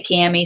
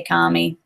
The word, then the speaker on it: Kami: comedy for them and I essentially say kami some say commie like well from the north from the south however you want to pronounce it but I love working